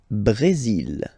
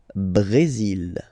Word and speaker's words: Brésil: Le Brésil. Le Brésil. Okay, you will pronounce the final L here, and then remember, accent aigu goes like E. Brésil.